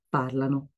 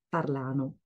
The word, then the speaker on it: parlano: parliamo, voi parlate, loro parlano. Attention, j'entends souvent la dernière personne prononcée comme ça, parlano. Non, l'accent tombe sur la première partie du mot. Donc, c'est pas parlano, mais parlano.